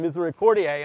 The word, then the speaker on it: Misericordiae: It's got a long A at the end.